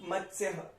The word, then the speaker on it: मत्स्यः: अब मत्स्य, मत्स्य, अत, अत। और उसके बाद भी क्या है? आधा आधा लेटर है, तो हम क्या बोलेंगे? मत्स्य, मत्स्य। मतलब सीधा य पे आ जाएंगे स को लेते हुए, मत्स्य, मत्स्य, मत्स्य, मत्स्य, मत्स्यः।